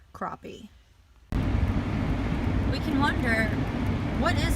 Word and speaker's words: crappie: and our dogs by the way this is pronounced crappie we can wonder what is it about non-human